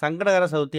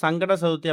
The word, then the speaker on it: சங்கடஹர சதுர்த்தி: முதல்ல சங்கடகர சதுர்த்தி அப்படிங்கிறத நம்ம முழுமையா உச்சரிக்கணும். சங்கடங்களை அறுக்கக்கூடிய சதுர்த்தி அப்படிங்கிறதால சங்கடகர சதுர்த்தின்னு உச்சரிக்கணும். வெறும் சங்கட சதுர்த்தி அப்படின்னு உச்சரிச்சோம்னா நமக்கு சங்கடங்கள் தான் வரும், சங்கடங்கள் தீராது.